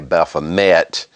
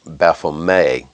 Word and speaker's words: Baphomet: A lot of people say Baphomet, like it's spelled, but it's actually pronounced Baphomet.